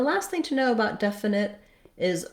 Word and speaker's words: definite: know about definite is words ending with T in American English. Americans tend to not always say that T sound. So we will mark the T. We don't leave it off. Definite would sound wrong. But definite, we use a stopped T. My tongue goes up to form the T, but I don't release the air.